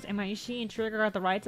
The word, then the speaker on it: Imaishi: How do you pronounce it? Imaishi and Trigger got the rights out of Gainax's corpse.